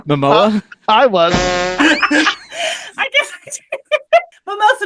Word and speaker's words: Momoa: Are we purposely pronouncing his name Mimosa as opposed to Momoa?